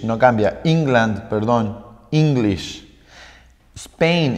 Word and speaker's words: Spain: cambia england perdón english spain esto es una sola sílaba no son dos sílabas